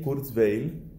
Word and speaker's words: Kurzweil: actualmente, que es Ray Kurzweil. Se escribe R-A-Y. Les sugiero que tomen nota de ese nombre porque es una persona que suena bastante. R-A-Y, Ray, y el apellido es con K, Q-R-Z-W-E-I-L, Kurzweil.